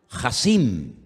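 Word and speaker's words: חסין: Porque la palabra poderoso, y la vamos a poner en la pantalla ahora, la palabra poderoso en hebreo se pronuncia, díganlo conmigo, Hasim.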